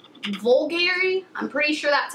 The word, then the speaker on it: Bulgari: I picked up is this perfume it's by Bulgari vulgari I'm pretty sure that's how you pronounce it um and it's called the Omnia